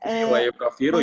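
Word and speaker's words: يُكَفِّرُ: Bahkan orang yang bersumpah itu wajib untuk meluruskan sumpahnya dan mengerjakan amalan kebaikan dan yukafiru ya, tadi itu bacanya yakfuru ya, yang benar tuh yukafiru.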